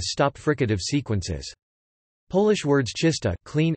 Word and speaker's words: czysta: Polish words czysta, clean, f, pronounced with an affricate, t, and trzysta, 300,